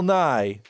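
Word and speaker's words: Nighy: uh Bill Nye and it's not ours not Bill Nye the Science Guy it's n-i-g-h-y I looked up how to pronounce it on the goddamn computer it's Bill Nye and uh he was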